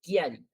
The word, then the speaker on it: Chiari: Butkiari, bootari, no chiari, no. But kiari, kiari.